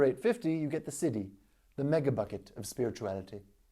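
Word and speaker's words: siddhi: you're not familiar with it's not City as in we built this city we built this city on rock n roll its city from the Sanskrit for divine gift and it's basically the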